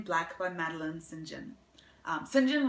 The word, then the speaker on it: St. John: St. John was how she pronounced it, although most people pronounce it St. John.